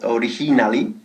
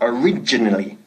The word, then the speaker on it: originally: Ojo con la pronunciación, no decimos originally, sino originally, ¿ok? Originally, enfatizando la segunda sílaba.